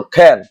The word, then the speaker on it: can: অর্থাৎ কর মতো না, উচ্চারণটা হবে খর মতন। কার মতো? খর মতন। খ্যান।